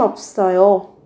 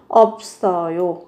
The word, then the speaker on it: 없어요: 관심 없어요. 관심 없어요. 관심 없어요. Tôi chẳng quan tâm đâu. Các bạn về cách phát âm thì các bạn sẽ phát âm là 없 và 써요.